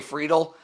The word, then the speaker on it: Friedl: left-handed hitting outfielder yeah freidal uh TJ friedl uh you said it right there and they had the